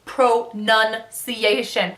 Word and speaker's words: pronunciation: not how is that it's pro none see a shin oh no that's like